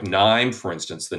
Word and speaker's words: KNIME: world, probably accurately to call it something like Nime, for instance, the Nime analytics platform. Yeah, And and let's that's, spell that out for our yeah, listeners.